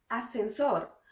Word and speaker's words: ascensor: Cuando hablamos rápido, esta primera S casi no la escuchamos. Decimos ascensor. Oh, se dañó el ascensor.